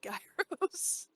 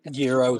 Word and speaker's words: gyros: I think of the gyros? Oh, instead. Euros, yeah, euros. Because in actual pronunciation, you don't pronounce the G, so it is euro.